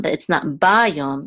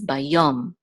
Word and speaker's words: bayom: See, the accent mark is under the yud, so it's not bayom, it's bayom.